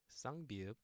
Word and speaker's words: 쌍비읍: Now the double consonant 쌍비읍, B, B, and it sounds like apple, apple, or like father in Spanish, padre, or papi.